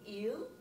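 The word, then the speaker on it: ils: Vous prononcez il et elle la même que le singulier. They're pronounced exactly the same. The S in French is silent. So you want to say il.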